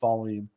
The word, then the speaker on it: Wallin: It was Wallin, which is very interesting. Because it always made me laugh when I try to hear fans try to pronounce his last name. I'm like, that's Wallin.